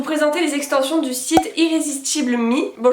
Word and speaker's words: Irresistible Me: les extensions du site irrésistible mi bon je prononce la française he mais je sais que ça se prononce plus irresistible mi mais c'est pas grave du coup j'ai découvert